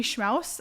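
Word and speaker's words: Schmaus: you up yeah schmow a last name is s c m a u s just like house schm oh nice I'm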